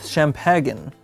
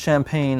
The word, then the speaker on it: champagne: Universe X comes with Shemp hagun which he offers whoo Leela who then tells him that it's pronounced champagne and then he starts